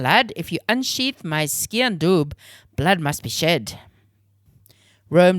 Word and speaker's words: sgian dubh: It's spelled ski and doob.